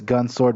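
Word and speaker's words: Gun × Sword: a habit like gunnex sword i know it's gun sword but i just have a habit of just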